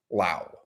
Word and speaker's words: Lao: But their officially styled name is just Lao. They just want to keep it down to one syllable, no S.